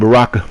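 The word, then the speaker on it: Baraka: about you said it right the first time baraca yeah but there's no Molina in MK1 nope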